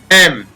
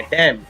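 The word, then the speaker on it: damn: Next है डैम, यहाँ पर एन साइलेंट है, डैम।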